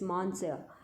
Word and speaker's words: monsieur: the french master monsieur it's not monsieur betta it's more ser or the pronunciation is quite different from the words as they seem there it's monsieur monster defuaj munster is a similar to the word sir or you can say mister when you use it